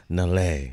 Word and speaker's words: Nelle: And I have the one, the only, Nelle.